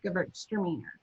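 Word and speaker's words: Gewürztraminer: girls are meaner girls are meaner for those of you who don't know how to pronounce it at home they're not but it's an easy way to say it girls are meaner extra meaner um this one is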